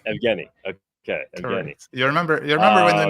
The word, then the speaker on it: Evgeny: How do I pronounce the name again? Please remind me how to properly you do it right. Evgeny is right. Evgeny.